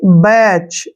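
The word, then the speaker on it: batch: मात्रा ठीक है ना अब टी का उच्चारण हम बिल्कुल नहीं करेंगे क्योंकि टी साइलेंट हो गया अब सी एच को हम क्या पढ़ते हैं च यानी कि बैच ऐसे बैच पढ़ेंगे इसको ठीक है ना और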